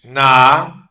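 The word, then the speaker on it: נחש: Pronunciation: Nakash, Nakash, Nakash, serpent, Nakash.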